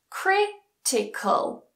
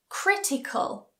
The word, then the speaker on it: critical: the syllable before that for example critical critical magical magical historical historical a longer one economical so again doesn't matter what's before it the stress still goes on the anti-penultimate syllable economical finally rule number eight